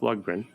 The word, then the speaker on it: Lundgren: Because Cody was an actual elevator operator, he advised Dolph Lundgren, the star of the movie, on how to play an elevator operator in this movie about a runaway elevator.